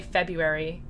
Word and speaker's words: February: But I generally say February without the R, like just Feb-U with a hard U, airy.